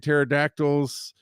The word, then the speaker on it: pterodactyls: Give me some ones like you've told before like why can't pterodactyls urinate because the pee is silent or so you can't hear podactyls urate.